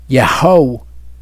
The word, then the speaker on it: Yaho: The difference is when you have the Yud Hey Vav at the beginning, it is Yaho. When you have it at the end, it is Yahu.